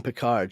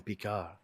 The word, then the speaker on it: Picard: is, I'm pretty sure, the first person I've ever heard actually say his name with the proper French pronunciation. She doesn't ever call him Picard. She calls him Picard.